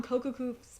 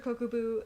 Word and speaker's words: Kokubu: And the look on Kokoku's face, I think I'm butchering his name right now, and it's really pissing me off.